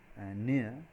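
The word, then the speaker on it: ne'er: you notice that and there is an apostrophe in the spelling in E ' then e it's the word never written as near the pronunciation should be near near so I never felt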